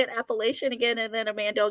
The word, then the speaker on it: Appalachian: I said it wrong it's not appalachi Appalachian Appalachian that sounds so wrong to me yeah that's appalachin okay will you remember